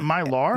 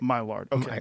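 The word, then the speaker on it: Maillard: Spell it. Um God, I'm the worst spell. Is it myar? No. M A I L L A R D. Right. Myard.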